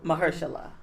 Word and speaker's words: Mahershala: How you pronounce his name? Mahershala.